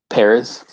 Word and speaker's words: Perez: um there's a george perez perez sorry he corrected me on his name when i picked this up how do you say it paris paris yeah perez perez